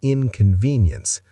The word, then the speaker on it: inconvenience: Clear overall, but slow down on inconvenience. Stress the second syllable.